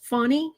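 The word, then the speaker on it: Fani: georgia what i heard is her name is pronounced funny fanny willis the george the d.a in georgia so at 40 7.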